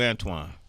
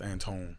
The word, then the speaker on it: Antoine: I've been calling you Antoine yeah it's it's spelled Antoine but it's Anton Anton on Anton X